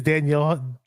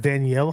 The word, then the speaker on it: Danielle: used to say it's Danielle I think it's pronounced Danielle Hunter if I'm not mistaken it's not Daniel Hunter yeah Dan danial Hunter